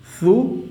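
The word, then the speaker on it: ثُ: Okay, now my dear students, I am giving Pesh over this Tha, and you have to pronounce this one Tha Pesh Thu, Tha Pesh Thu, very softly.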